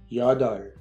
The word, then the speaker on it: 여덟: 8 se dit 여덟, 여덟. Attention, le petit pi-up ici ne se prononce pas.